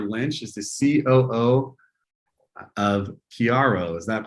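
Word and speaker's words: Kiaro: Eleanor Lynch is the COO of Chiaro. Is that pronounced correctly?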